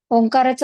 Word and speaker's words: ओंकार: साधकांसाठी पुन्हा एकदा सूचना ओंकाराचे उच्चारण करताना आपण तीन स्वरांमध्ये करत असतो तीन अक्षर आहेत अचा उच्चार त्यानंतर उ ओटाचा चंबू करून आणि मकार आहे ओठ मिटल्यानंतर होतो असा हा तीन अक्षरांनी बनलेला ओंकार आहे जे आपल्या संपूर्ण पृथ्वीचा